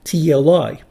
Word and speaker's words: Teuctli: long E, and then the final qua, which is a voiceless labiovelar stop. So this is kind of like the qua in queen, but this can also be pronounced at the end of a syllable, which was very difficult for the Spanish to approximate because this was not something that we pronounce in Spanish or in English.